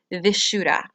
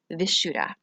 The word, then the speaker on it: Vishuddha: chakra, also known as Vishuddha. If I mispronounce that, I apologize, but I'm saying it the way it looks. Vishuddha.